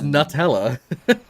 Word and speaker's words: Nutella: I don't pronounce nuts as newts. I pronounce nuts as nuts. Yeah, So it's Nutella.